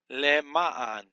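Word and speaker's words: לְמַעַן: The accent is on the second syllable here. You have the Lamed with the Shava, which is vocal, because under the first consonant. That's your first syllable. Ma, Mim, and a Patak. And then your third syllable will be Ayin, Patak, Nun, Sofit, or Nun, final Nun. Lema'an.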